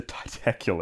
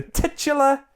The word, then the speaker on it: titular: The titacular. It's not titacular. That sounds cool. Sounds like he's a titan. The titular character of this movie.